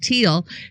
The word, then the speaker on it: Thiel: best wishes to beautiful brilliant Whitney the is pronounced like teal Peak Prosperity channel has proof of two Shooters